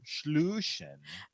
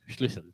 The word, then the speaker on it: Schlüssel: Schluschen. try to pronounce the two S's faster. Schlüssel.